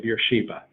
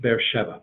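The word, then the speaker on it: Be'er Sheva: Dan to bear chef maybe you say Beersheba it's pronounced bear Sheva that air Sheva and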